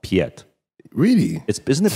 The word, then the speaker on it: Piet: Americans think he's called Piet. Really? Isn't it P-I-E-T? Yeah, it's P-I-E-T. No, most Americans are like P-I-E-T. It's Piet. No, it's like Pete.